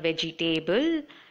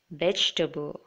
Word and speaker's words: vegetable: it that way and it's not veg'table it's vegetable okay but don't leave